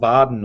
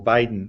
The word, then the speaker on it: Vaadin: And then we came across a thing called Vaadin or Vaadin. It's hard for me to pronounce. It's a Finnish word.